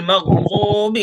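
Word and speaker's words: المغضوب: गैरिल मग़ज़ूबि अलैहिम वलद्दाल्लीन। गैरिल मग़ज़ूबि अलैहिम वलद्दाल्लीन। ज़ाद को खींचना है। गैरिल मग़ज़ूबि अलैहिम वलद्दाल्लीन। गैरिल मग़ज़ूबि मक अलैहिम नहीं, मक नहीं, मग, मग।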